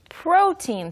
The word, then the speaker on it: protein: 보시면 pro까지는 발음이 쉬운데 T-E-I-N이어서 뭐 tein, tine처럼 발음하고 싶겠지만 네, protein. Yes, it's protein. 이거는 Teen. 카페인하고 똑같아요. 우리가 카페인이라고 하지만 영어 발음은 Caffeine. 카페인. Caffeine. 카, Protein. 예, 카페인, 프로틴, 그 EI가 전부 긴 E 발음이 되는 형태입니다.